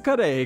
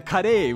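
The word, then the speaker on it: カレー: Katsu kare consists of two parts. There's the katsu, or cutlet, and the kare, which is just the Japanese pronunciation of curry.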